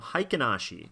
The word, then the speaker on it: Heiken Ashi: Not a huge difference, still pronounced the same, Heiken Ashi.